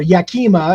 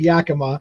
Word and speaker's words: Yakima: The ones that around here that get mispronounced all the time is Spokane instead of Right. Spokane or Yakima instead of Yakima, right? Those are common misspellings or mispronunciations, which again, if you're